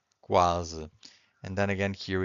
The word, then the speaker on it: quase: Because here we can hear the U. The U is not silent. But if you have Q-U-E, the U is silent. Quente. If you have Q-U-I, the U is also silent. Quinto. But if you have Q-U-A, that's in this case you can hear the U, right? So quase.